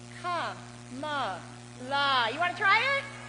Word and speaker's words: Kamala: That's 3 syllables, right? I've got another word with 3 syllables. It's Ka-ma-la.